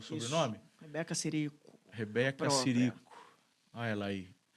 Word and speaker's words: Cirico: Coloca o Instagram da Rebeca Cirico. Pronunciei correto o sobrenome? Isso. Rebeca Cirico.